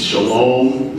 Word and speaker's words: shalom: Shalom is how it's pronounced usually.